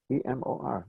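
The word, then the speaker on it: אמור: E-M-O-R. Yeah. Short E, long A, somewhere in the middle.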